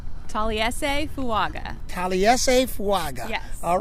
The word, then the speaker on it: Taliese Fuaga: You have the pronunciation? Taliese Fuaga.